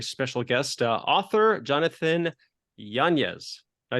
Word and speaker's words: Yanez: introduce our very special guest uh author Jonathan janeez I say it right yes that's correct good